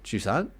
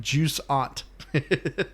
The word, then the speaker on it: Jusant: How do you pronounce the game? Juant. Okay. It sounded like you were saying like juice.